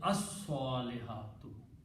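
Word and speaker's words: الصالحات: But when you read with the al, it will be pronounced as as-salihatu. Lam is killed by the sound of swad, which is a shamsi letter.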